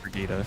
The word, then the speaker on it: Brigitte: i mean it's it's spelled bridget but oh pronounced brigitta oh yeah okay okay okay i know who